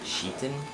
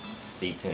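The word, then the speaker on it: Citan: His first name, it's actually spelled C-I-T-A-N, but it's actually pronounced Sheetan. At least that's how they pronounce it, and at least that's how the Japanese pronounce it. And so if it's, you know, it's actually pronounced Sheetan. A lot of people pronounce it as Seton or Kiten or whatever.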